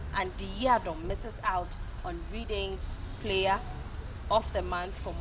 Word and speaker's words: Reading: It's Reading they spelled here. Yes, but that is how it's pronounced. Reading. Yeah. It's a football club. Reading. Yeah. R-E-D-D-I-N-G. So your R-E-A-D is actually red as well. Red, yes, yeah, sure. So it's Reading.